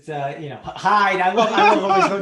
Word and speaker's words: Hield: Hield. It's Hyde.